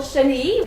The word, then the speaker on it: chenille: For example, chenille, we have it at the end, chenille.